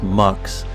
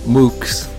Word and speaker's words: MUX: known as a MUX so this is pronounce MUX not mooks Hardware has to make